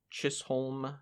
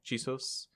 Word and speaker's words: Chisos: Or is it Chisos? Chisos? Oh yeah, I think that's how it's spelled, like that. Okay, Chisos. I'll say that actually. Okay. The Chisos Mountains.